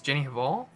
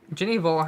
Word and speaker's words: Jenny Hval: Another one too is, well, not really, but like an interesting relationship I've had is I think it's Jenny Hval. That's how you pronounce it.